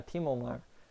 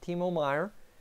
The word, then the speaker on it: Timo Meier: Yeah, Timo Meier.